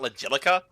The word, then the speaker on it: Logilica: impossible to understand logic it's apparently pronounced like basilica okay then good to